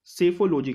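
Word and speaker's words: psephology: India में जो है इलेक्शन की स्टडी को सेफोलॉजी कहते हैं। पी साइलेंट है आपका यहाँ, ऑप्शन नंबर सी।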